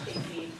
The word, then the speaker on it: Chafee: Yes, Madam Chair, it's pronounced Chafee. Although many in this state I have learned actually spell it the same way, pronounce it Chaffee.